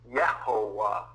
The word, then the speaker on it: Yehovah: An idea tossed around that the name is actually pronounced Yehovah. You say Jehovah, but Jehovah is the Latinization of that.